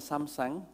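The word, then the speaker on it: Samsung: mau cerita dikit bahwa Samseng bacanya sebetulnya Samseng Samseng apa apa ini bacanya samsang samsang Ya itu adalah di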